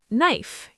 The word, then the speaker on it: knife: Knife.